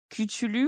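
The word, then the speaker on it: Cthulhu: de ktoulou ah alors il y a un débat sur la prononciation de ktoulou mais je suis ravie que tu le prononces comme moi donc la sur je prononce comment euh et ben écoute je ne citerai pas cette personne qui écoutera probablement le podcast mais j'ai une connaissance qui une amie qui prononce kutulu ou koutouou on l'embrasse on l'embrasse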